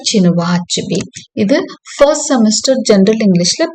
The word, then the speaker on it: Chinua Achebe: இந்த ஆத்தர் நேமை வந்து அப்படிதான் ப்ரொனவுன்ஸ் பண்ணுவோம், சினுவா அச்சுபி.